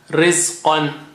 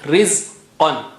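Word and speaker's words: رزقًا: Rizqan. Qan. Qa is high sounding. Rizqan. Okay. Provision. Rizqan.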